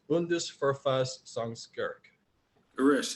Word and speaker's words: Bundesverfassungsgericht: Professor Brooks also handled legal translation for many firms and for Germany's highest court, which is pronounced Bundesverfassungsgericht.